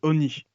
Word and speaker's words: Oni: C'est pas Hornet, c'est Oni. Je pense que Oni Lorcan. voilà, je pense que ça se prononce comme ça.